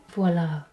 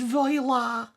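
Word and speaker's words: voilà: Voila. It's pronounced voila.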